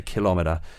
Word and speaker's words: kilometre: metric system over there they say kilometer as well they put the stress on the seconds yeah kilometer as if